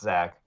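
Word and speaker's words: Zech McPherson: i i know it says deck but it's pronounced zack from what i've heard oh yeah i thought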